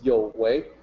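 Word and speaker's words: 有為: People will look at that and just say you, but in opinion system, that's the notation for yo. So that's why I say I want to provide a guide for pronunciation. It's yo wei.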